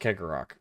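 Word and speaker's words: Cegorach: I think Cheggorak, yeah. Cheggorak. Yeah, Kegarok. yeah, I think it's. Oh, I think it's Kegarok. pronounced Kegarok.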